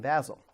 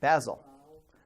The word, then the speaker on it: Basel: end up with John Calvin showing up in Basel, which is not where he actually ultimately ends up. And again, I don't know whether it's Basel or Basel. So is it Basel? Okay, Basel.